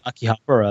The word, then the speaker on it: Akihabara: Yeah, if you want to say Akihabara, that's fine.